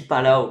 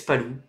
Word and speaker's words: Palou: Donc tu dis Palau, bah vous dites quoi? Vous dites Palou? Alex Palou? Je sais pas moi, en fait, moi, mon intonation, enfin ma prononciation de Alex Palau, ça vient de Alex Jacques. Ça vient de Alex Jacques qui commentait la GP3 en 2015 quoi. Palou? Bah oui, Palou, il est espagnol.